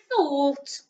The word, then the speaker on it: thought: had and then oh o-u-g-h is making all in this word thought and thought is the